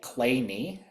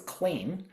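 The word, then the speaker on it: Kleene: Um Clay is pronounced the way I've been saying it, Clay. Um I would look at this and think that it was clean.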